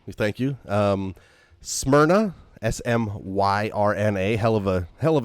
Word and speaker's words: Smyrna: is thank you we thank you um smyrna s-m-y-r-n-a hell of a hell of a name to try to pronounce but smyrna which it could be delaware